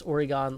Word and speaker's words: Oregon: Supernova PowerPoint says Porygon and Oregon is especially frustrating rhyme because so many people mispronounce Oregon like it rhymes with Porygon, and it frustrates me to no end.